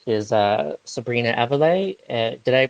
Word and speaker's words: Aviles: guest, which I'm happy to say is Sabrina Aviles. Did I pronounce that right, Sabrina? Aviles.